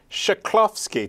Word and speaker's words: Chklovski: I've had some hard people on the show to pronounce, but this one is the toughest of them all. Tara Chklovski.